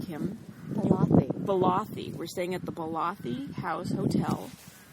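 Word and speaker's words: Ballathie: But we got to the hotel, and we have to pronounce this correctly, Kim. Balathi.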